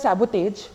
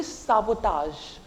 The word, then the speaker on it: sabotage: So many of us say this word as sabotage. It's actually not. Sabotage, it's the wrong pronunciation of the French word. It is actually sabotage. Sabotage, not like taj. Je thing is not there, je.